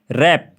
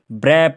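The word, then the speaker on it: wrap: है यहां पर हमें पढ़ना है रंग राइट रप ठीक है तो इसमें जो डब्लू सेलेंट है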